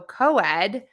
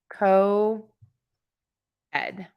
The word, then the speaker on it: co-ed: in American English so coed is co and Ed it's like we break it into Co Ed I'm gonna put this in the chat for you so that's how we'd pronounce it co-ed co-ed co-ed now we